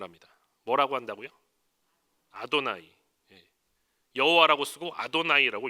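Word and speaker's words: אדני: 요 여호와 라고 발음하지 않아요 아 돈 아니라고 발음을 합니다 뭐라고 한다구요 아도나이 여호와 라고 쓰고 아도나이 일하고 있는 거예요 아무튼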